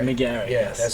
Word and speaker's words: McGarry: That's how I was wondering if it's any weird pronunciation, but I was like, McGarry's looks like how it's said. Exactly. And that's how you do say it.